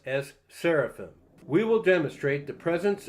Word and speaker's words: seraphim: All these are Messiah paradigms as well as the word seraphirim that we pronounce as seraphim.